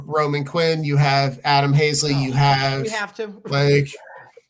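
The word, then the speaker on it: Haseley: man, and that's Adam Halsey. Adam Halsey is going to be a Hall of Fame center fielder, isn't he? Oh, Hazley? Hey, sure. That's how you say his name.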